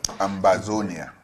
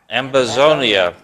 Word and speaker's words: Ambazonia: How do we pronounce the new Southern Cameroon? Ambazonia. Ambazonia.